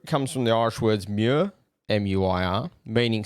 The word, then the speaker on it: muir: so the marrow comes from the irish words muir m-u-i-r meaning c and oy meaning made that's spelled o-i-g-h or where mero row i'm still